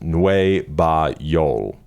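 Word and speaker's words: Nueva Yol: The title meaning is New York, pronounced NUEVAYoL.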